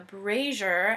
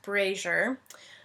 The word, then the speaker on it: brazier: They find a central room with a brazier. I looked it up. It's pronounced brazier.